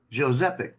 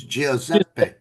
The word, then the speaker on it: Giuseppe: I said, I want to name him Giuseppe.